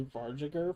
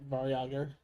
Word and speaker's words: Varyag: I thought it was Varjager for a minute, but Varyager makes sense.